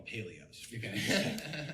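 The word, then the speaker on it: Palio: that's a box of we call them paleos we say it wrong he's like bro those are a box of paleo Cutters and I was like yeah what so he's like no dude it's a Paleo it's and like paleo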